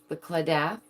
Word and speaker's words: Claddagh: The claddagh.